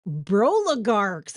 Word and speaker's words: broligarchs: How do you know how to say it? Broligarchs, like Blow, bros, yeah, like the like bros. oligarchs and bros are broligarchs.